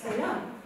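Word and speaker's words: selam: Несмотря на то, что здесь написано «селам», мы все-таки произносим «селям», «селям», как будто там я, «селям».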